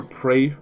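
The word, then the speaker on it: Praey: like you ever hear pray for the gods but it's spelled r a e y for the gods could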